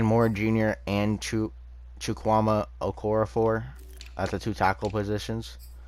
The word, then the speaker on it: Okorafor: hold on chukwuama okorafor i said okafor which it's okorafor um and then dan